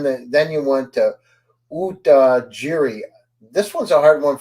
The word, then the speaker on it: utajiri: so you went that then you went to UT jiri this one's a hard one for me to pronounce is it UT jiri utajiri yes it's a Swahili word which actually means